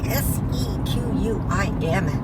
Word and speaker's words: Sequim: That is spelled S-E-Q-U-I-M, Sequim.